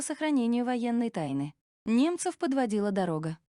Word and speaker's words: дорога: Автор имел в виду слово «дорога». Как ни старались, немцы не могли произнести его правильно. У них всегда получался такой вариант, как «тарока».